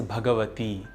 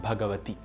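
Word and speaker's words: भगवती: In the last line, it is Saraswati, not Saraswati. It is Bhagavati and not Bhagavati. One also needs to be careful while pronouncing the word Nihshesha.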